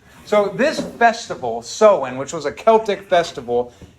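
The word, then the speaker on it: Samhain: e i n so it's spelled like Sam hanne or something but it's pronounced seen so this Festival seen which was a Celtic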